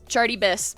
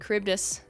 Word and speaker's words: Charybdis: Fun fact, I used to pronounce Charybdis as Chartybis because I didn't know. Basket, Dove, and Charybdis.